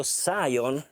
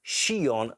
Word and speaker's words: SCION: So the Phoenix Audio SCION, which basically I've pronounced wrongly SCION in the test video, sorry for this,